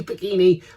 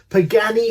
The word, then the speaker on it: Pagani: of this video so if I say pagini please don't pull me up on it I know know I'm saying it wrong but it just comes out so Pagani Utopia what a car